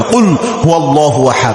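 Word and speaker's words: قُلْ هُوَ اللَّهُ أَحَدٌ: এই জন্য কফটা ভালোভাবে উচ্চারণ করবেন, কুল হুয়াল্লাহু আহাদ এইভাবে উচ্চারণ করবেন। কফটা এটা কিন্তু কফ, এটা কিন্তু কাফ না।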